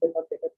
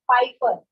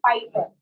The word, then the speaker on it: Piper: of pickled papers, where the pack of pickled papers Peter All right. Anybody else who would like to come? Okay, let me revise first what they are exactly trying to spell here. Peter Piper, it is not paper, it is Piper.